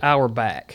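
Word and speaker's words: Auerbach: to pronounce his name is it Dan arback he says our back our back y that's easy for a southern boy I can just break it into two hour back yeah so when you're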